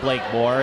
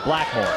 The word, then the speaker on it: Blakemore: irritation it is pronounced Blake more and some folks have read it as summer Blackmore yeah but if you read the program it's Blake and Moore so it's a compound word so just to make